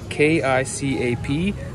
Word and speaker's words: kicap: same with Indonesian is K-I-C-A-P, pronounced as kicap. So in Canada and in North America, the number one sauce is ketchup. And over here, it's soy sauce, which coincidentally almost sounds the same as ketchup.